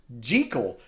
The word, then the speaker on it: Jekyll: until this point uh Jekyll has been or sorry they actually call him jico and apparently uh that's kind of how it's supposed to be pronounced but it just got